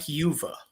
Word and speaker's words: Uva: And with me, none other than the infamous Mike Yuva. And I said that right. He has to pronounce it on his Twitter.